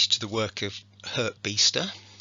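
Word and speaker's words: Biesta: the work of her beaster it doesn't quite look like it's pronounced like that from the spelling um because he does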